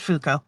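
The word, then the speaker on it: Fuuko: are serving other people uh how do you pronounce her name which which one our main person Fuko it's just Fuko okay my brain wanted to add something you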